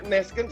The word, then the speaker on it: Neskens: Kalau lu tadi sebut Neskens, E-nya 1. Salah ya? Iya, jadi E-nya jadi Neskens.